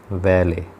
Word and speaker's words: valet: तो देखेंगे इसमें valet में जो है टी साइलेंट है, तो इसका उच्चारण केवल valet.